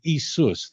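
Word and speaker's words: Ἰησοῦς: Jesus I'm not kidding as isus that would be how you pronounce it in Greek so that's why people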